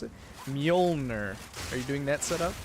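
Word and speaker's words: Mjölnir: How do you pronounce it? Mjolnir.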